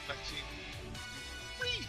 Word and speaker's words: Maxine Dupree: I didn't pronounce it quite right. Maxine Dupree.